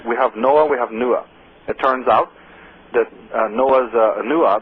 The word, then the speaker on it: Nuah: that came to Ireland, his name is Nuah, and it's spelled N-U-A-H, very similar to Noah.